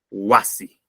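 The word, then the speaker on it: wasi: Mira, son palabras graves, y una palabra grave tiene el mayor sonido en la penúltima sílaba. Guagua, guasi, ñaui, puca.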